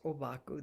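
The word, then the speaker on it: Ōbaku: in japanese known as obaku that's the japanese pronunciation of his his chinese characters he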